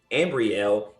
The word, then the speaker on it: Ambriel: jr and together they have two adult children ambriel and emmanuel all right welcome wanda welcome how